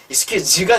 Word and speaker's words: excuse: excuse가 되죠, 요새 또. excuse. 자, 하지만 이게 명사일 때는 excuse 하고 S 발음이 난답니다.